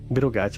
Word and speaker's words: Betelgeuse: Over here, we normally call it Betelgeuse or Betelgeuse. Betelgeuse is more the common term to call it.